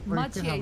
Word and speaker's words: Mathieu: Oh, by the way, Mathieu's name is pronounced Mathieu.